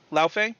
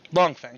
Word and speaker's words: Long Feng: Longfang. Long Feng. Yeah. There we go. Yeah. But probably not pronounced exactly like long.